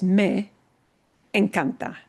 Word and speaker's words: me encanta: people using it together, that e from the me is going to blend right into the e that starts the encanta. It's going to sound like all one word. Someone will never pronounce that as me encanta, 2 separate words. It'll all slide together.